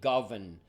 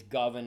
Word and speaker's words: Govan: So it's actually Govan, not Govan. It's Govan, I think, if I've got it correctly.